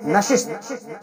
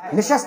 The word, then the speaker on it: نشست: لانے کی ضرورت ہے۔ مثلا ہم اور آپ استعمال کرتے ہیں نشست، مولانا نے فرمایا نشست کے بجائے نشست استعمال ہونا چاہیے۔ اس طرح کے انشاءاللہ